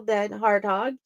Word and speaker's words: DenHartog: types of books welcome to the show dead harthog you are an impressive author thanks Jenny U